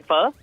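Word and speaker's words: phở: Oh, this is like really out there, so I'm Vietnamese myself, so I'm just going to say pho. A bit of pho. Nice. Yeah, some people say pho, but of course pho. is the right way to say it.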